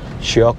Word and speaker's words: Shyok: আচ্ছা, আমরা উচ্চারণ করছি শায়ক নদী, কিন্তু স্পেলিংটা হচ্ছে SHYOK। শায়ক বলতে হবে শখ হ্যাঁ, शायक शायक শায়ক, ওরাও বলছেন শায়ক, কিন্তু এ নেই স্পেলিংয়ে।